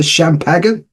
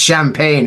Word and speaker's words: champagne: want the rest of the champagen it's pronounced champagne like oh God yeah